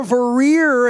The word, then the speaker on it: Vorreyer: She is Vorreyer, and I'm pronouncing that right. That's Vorreyer.